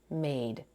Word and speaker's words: made: The final E is silent. The vowel spells its name, made.